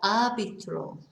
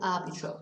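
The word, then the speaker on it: árbitro: arbitrary okay because of the stress on the a so that's your referee el arbitro i think they've been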